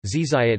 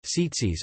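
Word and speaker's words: tzitzit: covers the whole crown zitzit hebrew zizait ashkenazi pronunciation setsis are special knotted fringes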